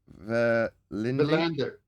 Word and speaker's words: Verlinde: Verlinde.